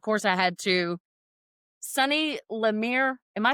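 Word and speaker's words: LeMaire: Sunny Lamir. Am I saying my name right? Yeah. Laamir.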